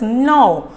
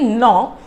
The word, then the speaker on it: gnaw: So now here the next word is gnaw. See, when you say gnaw, the G is silent. See, its spelling of this is G-N-A-W, but then we pronounce it as gnaw.